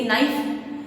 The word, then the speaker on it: knife: जैसे कि नाइफ, KNIFE, यहाँ पर के साइलेंट हो जाता है।